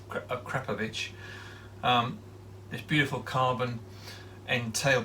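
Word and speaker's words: Akrapovič: on today this akrapovic apparently i was saying it wrong i was saying acropolis it's krepovich this beautiful carbon and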